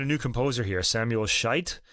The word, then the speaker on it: Schütz: play the melodies that Schütz wrote down. But I'm trying to say his name without making it sound like Schütz. The English word.